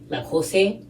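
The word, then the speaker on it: José: But I'm also saying Jose like the Americanized version of Jose, because I don't think that someone who identifies with a different culture would pronounce it like Jose. Like, I don't think they say it like that.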